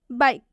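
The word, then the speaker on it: bike: उस ई को नहीं पढ़ेंगे, क्योंकि वो ई साइलेंट होगा। जैसे कि आप एग्जाम्पल देखिए, बाइक।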